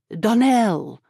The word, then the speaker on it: Donnell: Donell accent on the last syllable and St.